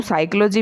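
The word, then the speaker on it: psychology: की बात करें तो साइकोलॉजी में पी साइलेंट है और नॉलेज में केडब्ल्यूडी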